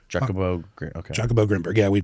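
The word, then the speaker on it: Jacobo Grinberg: Jakobo Grimberg. Yeah, we pronounce it that way.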